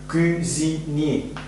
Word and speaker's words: cuisinier: Cuisinier diye telaffuz ediyor. Cuisinier, aşçı.